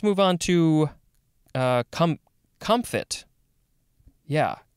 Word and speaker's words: comfit: on to uh com comfit yeah there's a maybe a little bit of a p sound in there comfit um at least that's what it's saying in the uh the the pronunciation guide it is just c-o-m-f-i-t